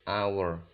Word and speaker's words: hour: melihat cara pengucapannya Nah untuk hour kata hower itu bacanya our seperti tanpa huruf h hanya desain seperti power